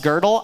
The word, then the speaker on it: Gödel: a guy named Kurt girdle I know his name looks like gödel but it's pronounced girdle I don't know why